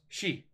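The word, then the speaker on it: 四: of you don't know four is pronounced she which is very similar to the way death is pronounced so four kind of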